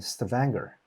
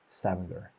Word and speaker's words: Stavanger: I'm going there from Romania, and we'll connect in Stavanger. Is that how you pronounce?